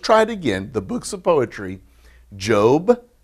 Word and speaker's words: Job: looks just like the word job but they pronounce it job i know look there should be an e on the end or something job but it's uh j-o-b job all right then psalms and it looks